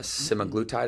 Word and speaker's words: semaglutide: has become popular, or correct me if I'm pronouncing this wrong, but the GLP-1 semaglutide, I think it's called?